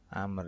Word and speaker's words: Amr: Jadi itu doanya Abdullah ibnu Amr, kalau bacanya ini Amr ya, Amr ini.